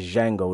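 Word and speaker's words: Django: name and he says Jango in the D is silent you know that's the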